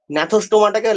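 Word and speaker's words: Gnathostomata: এদিকে এখানেও সেম, ন্যাথোস্টোমাটাকে লেখা হয় জি ন্যাথোস্টোমাটা, কিন্তু অ্যাকচুয়ালি প্রোনাউন্সিয়েশনটা হয় ন্যাথোস্টোমাটা।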